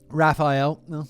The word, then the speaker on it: Raphael: She met a man named Raphael, and the pronunciation guide here says Ninja Turtles.